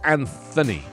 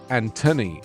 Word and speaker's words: Anthony: i'm not called tony i'm called anthony in america antoni in england because when i moved to america i started pronouncing the th because nobody knew what i was when i said anthony genuinely people didn't know